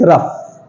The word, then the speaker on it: rough: rough, rouse, rouse, rouse बोले? No, it's rough, rough, badda. rough, rough. Okay, here gh pronounced as f.